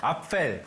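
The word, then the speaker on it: Apfel: 발음 너무 좋아. 앞펠.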